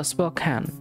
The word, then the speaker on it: Spokane: the best thanks for the shout out spokane pronounced spokane oh spokane okay it's uh south of the border of